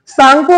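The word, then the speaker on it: Tsangpo: सांगपो वाले परेशान तो नहीं हो रहे हैं, टी इसमें साइलेंट है सांगपो में, जानते हैं ना ये बात।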